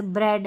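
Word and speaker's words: bread: इ ए की ध्वनि यहां पर अ की ध्वनि ये ए लिखा गया है लेकिन अ साउंड आएगा जैसे ब्रेड हेड डेड weather रेडी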